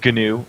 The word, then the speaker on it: GNU: not linux yeah yeah it's gnu actually richard stallman uh pronounces it that way all right we just